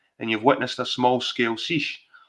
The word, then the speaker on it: seiche: There's something that is often mistaken for tidal movement, which is called seiche, pronounced seiche, or a standing wave, which can reach several meters in height.